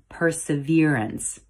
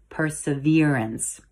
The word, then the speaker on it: perseverance: up it's actually pronounced perseverance with emphasis on the v syllable perseverance if you prefer the